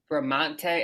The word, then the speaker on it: Bramante: I'm going to introduce Bramante. Is that how you pronounce it?